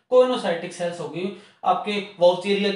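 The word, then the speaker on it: coenocytic: था पिछले वीडियो में, उसको बोल सकते हैं क्वेनोसाइटिक। कुछ प्रोनाउंसिएशन में सिनोसाइटिक भी बोला जाता है, पर आप इसको दोनों से कोई भी समझ लें।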